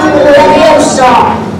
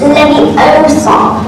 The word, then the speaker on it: Leviosa: Wingardium Leviosa. Stop. You're going to take some of Ireland. Besides, you're saying it wrong. It's Leviosa, not Leviosa.